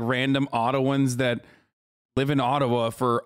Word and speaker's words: Ottawa: And we're going to let the mayor of Ottawa, or Ottawa, as it's correctly pronounced in Ojibwa, explain why peaceful truck drivers pose an imminent danger to Canada.